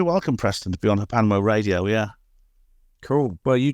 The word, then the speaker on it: HPANWO: You can find me simply by putting in my name or Hospital Porters Against the New World Order, or just write HPANWO. It's pronounced Hapanwo, and that's basically my main website.